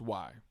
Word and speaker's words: Y: just a question mark it's pronounced why like the letter Y like